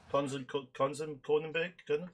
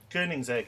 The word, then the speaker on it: Koenigsegg: Kronenberg? Conan? Is that how you pronounce it? How do you pronounce it, Sandy? Kronenberg? Koenigsegg? Koenigsegg. Koenigsegg, that's it, Koenigsegg.